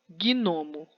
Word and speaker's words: gnomo: Gnomo. O G é mudo.